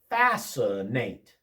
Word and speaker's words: fascinate: Fascinate.